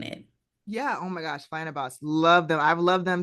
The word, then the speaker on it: Flyana Boss: I actually never pronounced it out loud, but I love Mm. it. Flying a boss. Yeah, it's Flyana Boss.